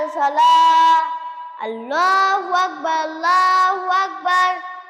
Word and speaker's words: আল্লাহু আকবার: যদি আল্লাহু আকবার ার এভাবে টেনে নিয়ে যাই তহলে এর অর্থ দাড়ায় আল্লাহ ঢোল তবলা বাজনা এরকম দাড়ায় অর্থ তহলে এটা নাউজুবিল্লাহ এটা বলা যাবে না তহলে সবসময় কি বলতে হবে আল্লাহু আকবার একবারে উচ্চারণ করতে হবে আমার সাথে একবার কিভাবে